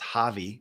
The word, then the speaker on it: Hawaii: It is my So, Jake and Hannah live in It's H A Wii, Hawaii, which they taught me is pronounced Javi.